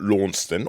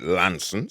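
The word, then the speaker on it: Launceston: Devon common border near a place called lawn stand or as they keep telling me down there you've got to pronounce it Lanson so for those little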